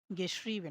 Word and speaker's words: geschrieben: schrieben, geschrieben মানে হচ্ছে লিখেছে আরকি। দেখেন এটা হচ্ছে হা, এটা হচ্ছে এরপর হচ্ছে দেখেন ই আর এ আছে। তার মানে এটার উচ্চারণটা দীর্ঘ ইকারের মতো হবে।